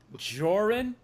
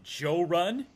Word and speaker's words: Jorrun: finds my channel he'll pronounce it joe run because i've had some friends from different parts of the south call me joe run which is cool uh but i like how you said it that's very cool